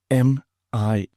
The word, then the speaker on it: mirage: M-I-R-A-G-E is pronounced mirage, said Valancy shortly, picking up her tea and her beans.